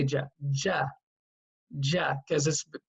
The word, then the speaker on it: ج: you start saying gene because when you read the letter you read it as JA not as gene so we're just cannot